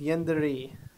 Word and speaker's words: Yandere: It's pronounced Yandere.